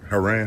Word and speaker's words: Heran: I I don't know how to pronounce it. I don't want to butcher it, man. It is Haran. Haran.